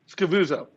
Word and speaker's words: Scavuzzo: Scavuzzo.